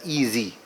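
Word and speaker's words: EZ: learning companion called as easy it is spelled as the English alphabets e and Zed but uh pronounced as easy why because it makes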